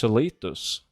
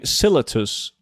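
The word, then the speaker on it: Silithus: is based on the Norwegian Celitus, so it's pronounced Celitus. Let me guess. You're one of the guys saying Silitus.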